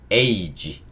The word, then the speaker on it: age: 그리고 마지막에 있는 이 E는 발음되지 않습니다. 그래서 이 단어는요, age, 이렇게 읽을 수 있어요.